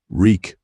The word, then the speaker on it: Reek: Reek, wreak, it rhymes with leak.